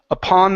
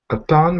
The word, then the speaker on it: upon: instead of upon okay the stress is on the end of the word okay so this is upon my shoulder upon my shoulder okay good